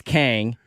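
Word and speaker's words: Khang: I just I'm here it's Kang it's not that tough though it's one syllable I don't get it but they have because it's KH h n g yeah the H throws people off like the last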